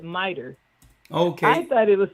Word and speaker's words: MITRE: and it's called, and it's spelled Mitri, but they call it MITRE.